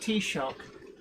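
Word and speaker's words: Taoiseach: word but i've since learned that it's it's pronounced t-shock yeah and i always think of tea shop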